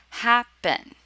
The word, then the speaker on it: happen: have happen and begin for happen the stress is on the first syllable happen it's not happen right so if the